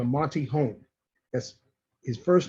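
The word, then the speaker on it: Monte Holm: written by a gentleman by the name of monty holm yes his first name is spelled m-o-n-t-e last name is home h-o-l-m monty home okay monte home uh has established himself in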